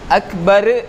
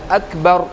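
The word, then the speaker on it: أكبر: அப்போது இப்போ அல்லாஹு அக்பர் அல்லாஹு அக்பர், அக்பர் அப்படின்னு சொல்லி நம்ம ஒரு வைப்ரேஷன் கொடுத்து நம்ம சொல்லிடக்கூடாது. அக்பர் அப்படிங்கிறதுல அக்பர் அவ்வளோதான். ஒரு நார்மலாக ராவுடைய நிறுத்தும்போ நம்ம நார்மலாக நிறுத்திடணும்.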